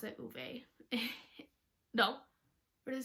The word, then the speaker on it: Ove: many times it's over it's a man called ova it's how they pronounce it in the audiobook um and so